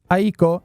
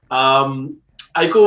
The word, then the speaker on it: Aiko: Aiko was a gift to my wife on Valentine's. So his name is Japanese for love. Oh. So it's Aiko, but there's an accent on the I with 2 dots.